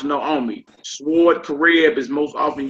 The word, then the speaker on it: Naomi: Underneath that, bottom of page 95, it says Naomi is pronounced Naomi.